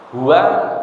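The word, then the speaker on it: هو: Ahad katakan dia Allah Hua dan Allah itu sama Hua itu mubtada Allah khabar ahadun bisa menjadi khabar yang kedua atau menjadi Badal dari Allah hua damir hua kalau diwakakan bacanya hu dalam zikir ee ee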